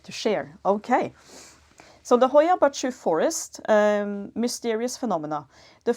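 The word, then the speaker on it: Hoia Baciu: the planet is often considered to be the Hoya bachu B uh it's it's spelled h o i a and then a new word b a c i u Hoya bachu forest in Romania again comments on my pronounciation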